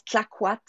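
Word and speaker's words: Clayoquot: entendent c'est ça s'écrit Kayoko mais ça se prononce clquat wilderness Lodge donc c'est en Colombie Britannique ça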